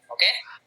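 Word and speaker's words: を: Jadi film artinya tuh eiga itu film kalau miru tuh melihat penonton, wow ini tuh partikel ya. Eiga, ketika posisinya sebagai partikel, dibacanya bukan wo tapi o.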